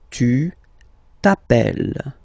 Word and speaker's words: tu t'appelles: Okay, remember, final S not pronounced. Tu t'appelles.